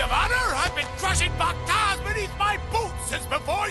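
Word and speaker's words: p'takh: I've been crushing Pakta beneath my boots since before you were born! I've never heard it pronounced Pakta before. It's supposed to be Patak.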